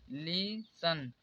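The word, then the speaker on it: listen: silent होगा जसे देखिए लीन ली सन यहां पर टीई एन आया तो यहां पर टी कॉमन होगा तो इसे पढ़ा जाएगा लिसन यहां पर देखिए टी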